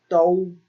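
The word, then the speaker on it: 都: And it is pronounced dou, dou.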